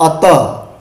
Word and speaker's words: अतः: विसर्ग का उच्चारण किसके समान होता है? ह के समान। जैसे अतः, यहाँ त के बाद विसर्ग लगा है, देख रहे हैं, अतः, त के बाद क्या लगा है?